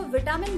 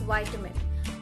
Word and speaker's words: vitamin: बहुत सारे लोग उसको विटामिन बोलते हैं बट इट्स वाइटामिन।